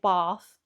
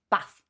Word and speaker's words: bath: But yes, if you're from the South, if you're a Southerner, you will say bath. Northerner, bath.